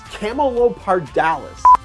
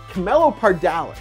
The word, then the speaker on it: Camelopardalis: Continuing upwards, and at this point almost directly above you, is one of the funnest constellations to try and pronounce. Camelopardalis. Camelopardalis. Camelopardalis.